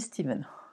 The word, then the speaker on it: Stéphane Steeman: - stéphane steeman ouest ça s'écrit stephen et ça se dit steven n'est pas simple 1 et je tricote